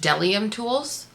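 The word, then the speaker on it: Bdellium Tools: Let me tell you, somebody said that it's just Delium Tools that the B is silent. So, I have the Delium Tools 729 bent fan brush.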